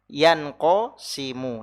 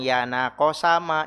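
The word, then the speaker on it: يَنْقَسِمُ: Ya, in qasama yanqasimu. Nah, dibacanya yanqasimu bukan yanaqasama, ini kisimi bukan.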